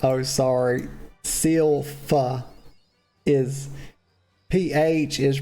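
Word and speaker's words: Sylph: B's like oh sorry seal f is pH is pronounced F so Sil it's so rhymes with mil I can do that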